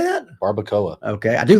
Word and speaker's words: barbacoa: Barbacoa. What? How do you say that? Barbacoa.